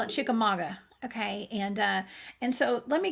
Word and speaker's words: Chickamauga: We call it Chickamauga. It's spelled Chickamauga, but all of us locals call it Chickamauga.